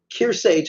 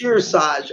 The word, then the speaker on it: Kearsarge: Hampshire, her high school, Kearsage High School in New Hampshire, voted 6-1. Their school to ignore what? Kearsarge is the way it's Kearsarge.